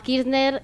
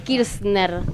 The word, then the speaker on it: Kirchner: Es Kirchner, se escribe distinto. Sí. O sea que Adrián Suárez, Adrián Kirchner. Una Z. ¿Viste? Sí, con una Z.